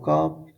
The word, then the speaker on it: ک: Look, the previous one was Cobb, pronouncing was pronouncing in throat, and this one is small Cobb, is pronouncing in mouth, like Cobb, instead of K, Cobb.